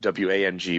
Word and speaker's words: Wang: Koenig, the meaning of Koenig is actually king, and the meaning of W-A-N-G pronounced Wang, my last name, is king also.